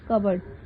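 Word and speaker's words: cupboard: फिर हमारा आ जाएगा कवर्ड। मैं लिख ही देती हूँ, लेकिन पी हमारा साइलेंट रहता है, उसको हम पढ़ते नहीं है, तो इसलिए कि कवर्ड कहला रहा है, लेकिन पी हमारा साइलेंट है।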